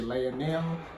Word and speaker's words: Lionel: They say his name with the accent. I say it my way up, like the English way. They say Lionel. I say Lionel Messi. They say Lionel. I'm gonna try to say it like them though.